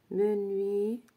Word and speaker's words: menuisier: mot men oui Zier ça s'écrit pas avec Z mais on entend le même son menu Zier parce que s entre de VO se prononce menuisier voilà menuisier voilà je